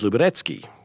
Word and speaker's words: Luberecki: came from, it was a nickname in the Boy Scouts, I think, because the real Polish pronunciation, see, I'm a professional at this, of Luberecki is Luberecki.